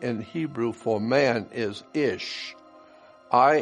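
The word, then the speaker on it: איש: Hebrew word for man ish here's another reference word that said interesting the words for man and woman in Hebrew is identical man in Hebrew is pronounced ish and looks like this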